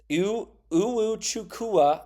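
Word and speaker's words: Iwuchukwu: um Vince ubu chukua oh u u chukua I think is how you say his last name 7 foot1 junr he's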